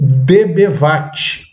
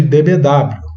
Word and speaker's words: dBW: Agora vamos falar do dBwatt. Alguns chamam de dBW, eu prefiro chamar de dBwatt, ou dBwatt, se você quiser pronunciar corretamente.